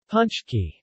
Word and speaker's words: pączki: as the last being closest to the polish pronunciation and often write it as punch key ie without the opening hook shaped diacritic this